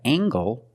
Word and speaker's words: angle: compare these two words we have angle spelled l-e making the nasal sound and the Heart G angle this is a